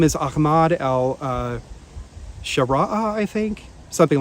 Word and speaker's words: Ahmad: The media's been printing it as Ahmed, A-H-M-E-D, or A-H-M-A-D. Ryan and I checked with our friend Naif in Lebanon, and Naif said, no, it's actually Ahmad, but the way Arabs pronounce it is Ahmad without H, right?